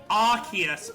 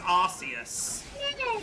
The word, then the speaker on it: Arceus: I'm sorry, I know it's Arceus, but my brain always says Arceus.